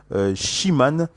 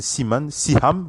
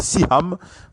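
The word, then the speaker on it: Seham: C'est à travers la voix de Lee Seaman, voilà, c'est Seaham, voilà, pour être plus précis, c'est Lee Seaham, voilà, je prononce bien, l'avocat de cette National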